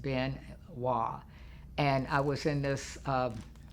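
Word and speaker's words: Biên Hòa: bin wah bei in and then HOA this pronounced bin wah and I was in this space and there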